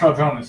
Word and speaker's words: Raldronis: It's pronounced Raldronis.